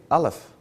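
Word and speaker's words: אלף: of the Hebrew alphabet they pronounce their letter A Alf and it means breath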